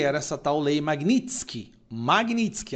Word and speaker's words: Magnitsky: Magnitsky, a pronúncia correta, tá?